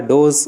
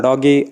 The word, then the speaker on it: Doge: You can pronounce it as a Doge or doggy or dog, whatever it may be, but in this video